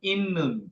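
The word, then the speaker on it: 있는: এই বানানটা হবে ইন্নুন। কি হবে? ইন্নুন মানে হলো আছে। এটা একটা বাস সিম আছে, মনে পড়ে? ত ধ্বনির পরে ন থাকলে তটাও ন হয়ে যায়, তাহলে ইন্নুন মানে কি?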